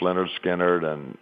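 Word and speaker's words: Lynyrd Skynyrd: I mean, at that time, Leonard Skinner was just becoming a huge band, pronounced Leonard Skinner and Second Helping, and then Marshall Tucker was just coming up.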